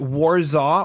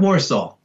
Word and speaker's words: WARZAW: rockwell podcast we have is it warzone or warsaw ah warsaw okay i think you said it right the second time there okay beautiful thank